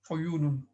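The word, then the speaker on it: عُيُونٌ: Plural is uyunun.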